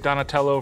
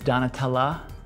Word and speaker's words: Donatella: So Joshua, you're a pretty big Donatello Versace fan? No, it's Donatella Versace. Yeah, that's what I said. Not pronounced Versace, it's Versace.